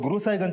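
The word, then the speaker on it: गुरुसाहिगंज: गुरसाईगंज सर गुरु साहिगंज को वहां के लोकल लोग गुरु साहिगंज प्रोनाउंस करते हैं।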